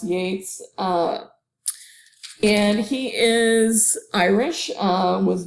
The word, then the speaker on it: Yeats: So William Butler Yeats, his last name looks like Yeats, but is pronounced Yates.